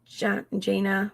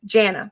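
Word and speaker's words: Jana: come back to that so yesterday reported that jaina what has her name jaina moved out which was told to me by a Duggar brother of Jenna Jenna that's how you pronounce it according oh my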